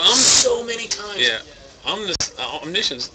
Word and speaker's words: omniscience: tell you though uh the card is pronounced omniscience and not omniscience that one uh say here